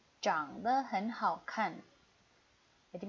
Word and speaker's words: 长: " 好看 ," 非常好看，长得很好看。Ini dibacanya " 长 "。Cang de hen hao kan.